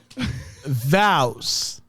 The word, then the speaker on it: vows: The one syllable or 2 syllables? All right, listen to me say it. How real quick. many syllables should be in the word? Vows?